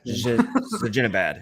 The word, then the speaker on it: Zibanejad: Zibanejad.